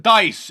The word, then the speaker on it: Dice: number two people on Twitter saying wait mark dese has been doing this or dice dese has